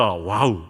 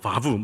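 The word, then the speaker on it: ו: 여기서 오직이라고 번역되어 있는 히브리어 접속사 와우, 바부 이렇게 발음하는데요.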